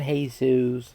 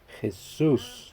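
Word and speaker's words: Jesús: By the way, it's not Jesus, Chris. You should know. Jesus. There you go. That's how you say it. If you're red, bro, it's Jesus or Chuy for the homies.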